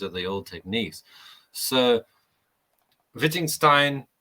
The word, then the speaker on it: Wittgenstein: So Wittgenstein, I say Wittgenstein, not Wittgenstein. I say it properly. Wittgenstein.